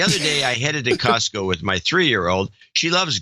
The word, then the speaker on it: Costco: When she said, "Yay, Costco," Costco without the T. Oh, no. I had an old crap moment. I realized I've been dropping the T from Costco for years. I quickly corrected her and now pronounce it Costco.